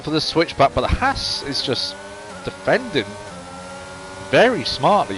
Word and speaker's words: Haas: We'll go up here and see see how the Aston and the Haas get on. Or if you're Spanish, as, because the H is silent.